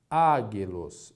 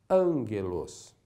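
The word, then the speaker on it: ἄγγελος: exemplo Ângelos perceba que porque temos dois Gamas na pronúncia o primeiro Gama terá um som de n não lemos a palavra águ elos é errado nós a Lemos Ângelos vejam que temos o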